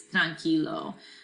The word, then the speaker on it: tranquilo: Now it's not really like pronounced tranquilo. It doesn't make that qui sound. It's tranquilo for relaxed, or obviously think of the English word tranquil, right?